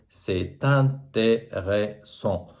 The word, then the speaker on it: c'est intéressant: Et là, je dois faire ce qu'on appelle la liaison, c'est-à-dire je prononce t. Et là, ça fait c'est intéressant.